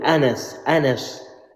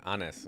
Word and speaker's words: Anas: Say it properly, Anas. Brother, Anas. Okay, from the Prophet.